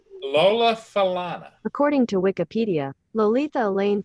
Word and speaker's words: Falana: How do you pronounce her name? Lola Falana.